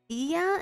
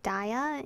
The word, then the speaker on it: Dia: Anyway, we're back with Butterfly Soup, where we learned that it's pronounced Dia instead of Daya, and Men is leaving.